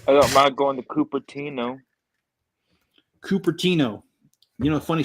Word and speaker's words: Cupertino: we lived there, because they would call it Cupertino because it's spelled Cupertino. And it used to crack me up because they also call it San Jose instead of San Jose.